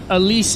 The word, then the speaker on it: Alice: display French I think if you're in California aloun it Alice but you know what I think Elise is the way that she would rather you pronounce it okay for the rest